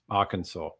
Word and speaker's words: Arkansas: And how do you pronounce Arkansas? Arkansas.